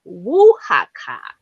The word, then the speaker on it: Oaxaca: So it's pronounced Oaxaca Oh my god.